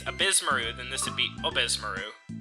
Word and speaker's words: Ebisumaru: courses oh boost maroon I could only pronounce abysmook correctly because they said in the opening thing so I'm just copying what I heard well it's abysmaru then this would be obesmaru which he challenges